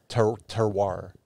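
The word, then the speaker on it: terroir: and uh it it i think it's pronounced uh terwar and it's it's the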